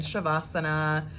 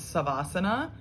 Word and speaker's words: shavasana: to start with sava so also pronounced as shava what does it sound like ad asana on the end shavasana which is corpse pose so sava shava is corpse um again this is something that someone would typically see and pronounce as saba and i know that some people do pronounce savasana i hate the sound of it personally because i've always